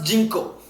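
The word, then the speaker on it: ginkgo: commonly you can say even spelling g i n k g o you can pronounce jinko okay two times favorite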